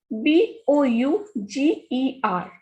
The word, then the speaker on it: bouger: Next is bouger. Er sounds a, and ou has sound u. So bou is boo, ger is j. So this is bouger.